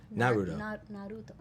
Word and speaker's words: Naruto: Am I saying Naruto right? I always say it right. Naruto.